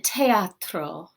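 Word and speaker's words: theatro: the next page in teatro and this th we do actually pronounce as a t sound instead of a sound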